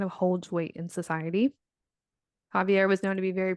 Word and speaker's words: Xavier: Starting with patriarch Javier. It's spelled like Xavier.